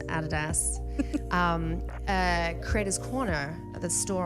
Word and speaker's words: Adidas: the added a store you guys say adidas I think yeah the actual pronunciation guys everyone is added ass creators corner at the